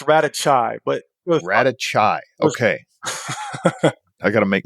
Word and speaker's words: Radocaj: a special guest with us today Mr Marco rakai I think I'm pronouncing that correctly from Florida of balance HVAC